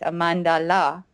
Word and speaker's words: Amandala: which is my surname so it's amandala and uh and I like it sounds like Mandela or you know so